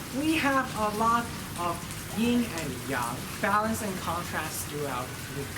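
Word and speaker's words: yin and yang: ying and yang so the proper Chinese pronunciation is ying and yang so that's ying and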